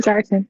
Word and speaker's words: Garton: It's Garton, like Mr. Martin.